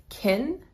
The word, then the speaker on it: can: In positive sentences, it is pronounced kin and is unstressed. I can do that. I can do that. I can do that. This word is pronounced kin in a positive sentence and it's not stressed.